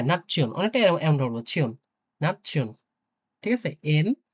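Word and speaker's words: Nation: তো এই ক্ষেত্রে আমরা ডয়েচে পড়বো নাচ্ছিয়ন, নাচ্ছিয়ন। হ্যাঁ, না, হ্যাঁ, নাচ্ছিয়ন, অনেকটা এমন পড়বো, ছিয়ন, নাচ্ছিয়ন।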